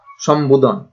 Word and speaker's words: সম্বোধন: যেমন এখানে সম্বোধন, এখানে দন্তাস্বরের সঙ্গে কিছু নেই, ম এবং তার সঙ্গে আছে বফলা, তারপরে দন্ত ন এবং ধ, উচ্চারণ হচ্ছে সম্বোধন।